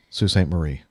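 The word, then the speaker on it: Sault Ste. Marie: Marie Michigan it's all that's always one of those interesting things the way they spelled it is s a you LT Ste Marie and am i pronouncing it right that's how we pronounce it that's a be pronouncing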